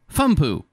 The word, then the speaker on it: FMU: first motion picture unit their uh acronym fmu is pronounced fumo production mil uh produce